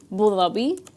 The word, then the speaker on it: Abu Dhabi: Thei, but technically it's supposed to be bulabi.